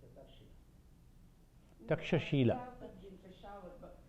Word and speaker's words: Takshashila: Heard that Takshila. Takshila is in Peshawar. When they pronounce in Punjab, they short it in this way. But when we pronounce we call it Takshashila, they call it Takshila.